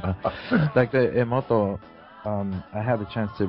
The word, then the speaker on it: Emoto: Emoto, Japanese pronunciation.